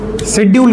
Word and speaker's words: schedule: ई एल ई शेड्यूल कहा जाता है शेड्यूल। स्ेड्यूल स्ेड्यूल भी पढ़ते हैं। प्रोनंसिएशन का अलग-अलग मैटर है।